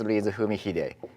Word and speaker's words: Fumihide: This is extremely difficult to pronounce. Even I, sometimes it's difficult to say, but it is Fumihide. Fumihide. Fumihide in English.